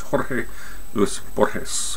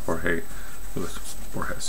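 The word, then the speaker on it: Jorge Luis Borges: America is H Luis Luis bores George j o r g e l u i s bores b o r g s in Spanish it's Jorge Lis bores or Jorge Le bores if you don't I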